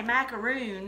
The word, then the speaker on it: macaron: Yes, it was macaron. So is that how you say it? That's more macaron. Like, I say macaroon. Because we're from the South, and it's a macaron down here. I can't repeat how they say it. They got that throaty sound, and it's really pretty.